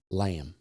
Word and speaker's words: Lammes: Introduced by the company to clarify the pronunciation of the name Lammes.